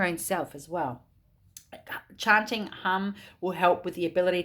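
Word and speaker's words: ham: chakra mint mantra is hum it's spelled h a m but pronounce h-u-m-hum and it will help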